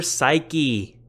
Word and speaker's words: ψυχή: Today's Greek word is psyche. Psyche. Now, if you use Erasmian pronunciation, I believe you would say something like suke or something like that. But this is the word for psyche in English.